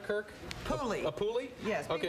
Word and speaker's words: Puli: Puli. A Puli? Yes, Okay. people who don't like the breed pronounce it Puli. Puli. Well, now I'd much rather have him called a Puli.